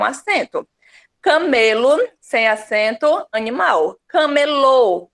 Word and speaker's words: camelô: Camelô, ou seja, o som se desloca para a última sílaba, tornando ela mais forte, ó, camelô, mais forte é o lô.